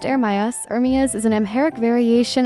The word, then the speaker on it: Ermias: Ermias, pronounced Ermias, Ermias is an Amharic variation of the Hebrew name Jeremiah and means appointed by God.